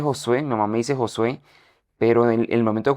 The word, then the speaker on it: Josué: Bueno, pero Josué, usted no tiene eh no, yo creo que usted no ha conocido un tocayo. Su nombre es Joshué. Josué. Josué. Sí. Sin pronunciar la H.